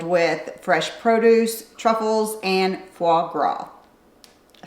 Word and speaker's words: foie gras: If you're a foodie, then you'll love all of the local markets that are filled with fresh produce, truffles, and foie gras.